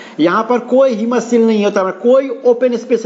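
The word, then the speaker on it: haemocoel: देखिए अंग्रेजी का इसका ये स्पेलिंग लिख रही है हीमोसील, HAEMOCOA, हीमोसील। इसको हीमोसील कहते हैं।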